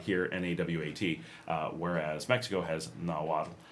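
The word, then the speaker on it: Nahuatl: Uh, so nawat here, n a w a t. Uh, whereas Mexico has nawat, which is n a hu a t-l, but they're pronounced almost identically.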